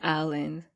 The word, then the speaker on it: Allan: The second is, okay, let me pronounce it, is Lucy Allan? I would Allan? Say Allan. Okay.